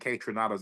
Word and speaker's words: Kaytranada: That's Kaytranada.